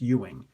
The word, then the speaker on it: Ewing: It's pronounced Ewing.